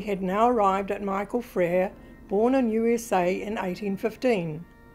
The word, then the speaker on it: Fraer: my father, Jack Fraer, pronounced the name Fraer, two syllables. No other members of the family did. Thelma, Jack's sister, and his uncle Hugh Fraer, and his family all pronounced it the phonetic way of its origins, that of Fraer, one syllable, the French word for brother.